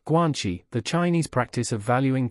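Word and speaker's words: guanxi: each player's strategies are known and fixed guanchi pronounced guanchi the Chinese practice of valuing personal relationships over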